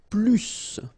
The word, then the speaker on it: plus: you want to use plus more okay in some cases you will have to pronounce it PL okay so you will